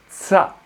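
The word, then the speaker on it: ཙ: Alors par contre, c'est TS, c'est tsa, tsa, tsa. C'est pas évident pour nous, hein. C'est tsa.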